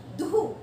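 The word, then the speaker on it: दुःख: हम जनरली बोलते हैं दुख, दुख नहीं, दुख, दुहु। ये जो अह की मात्रा आएगी वो देखो कैसे आएगी, इसमें डबल मात्रा का उच्चारण होगा। दुख में हमेशा डबल मात्रा का उच्चारण होता है।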